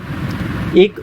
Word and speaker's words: et: यूज़ करना होता है ET को प्रोनाउंस करते हैं ए, और ET का मीनिंग, ए का मीनिंग होता है एंड, जैसे इंग्लिश में एंड होता है और।